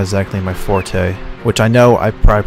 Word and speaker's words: forte: I'm almost positive I heard somewhere that it's fort, not forte. I think people use it so much like that I think it's almost become the new standard. Sort of like it's an accepted pronunciation for something once it's just so repeated.